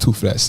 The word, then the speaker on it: Toofless: And on the streaming platforms, it's just Toofless. That's TOOFLESS. Toofless. You're spelling your Toofless with a F, eh? Exactly, because if you had no teeth, that's how you go say it.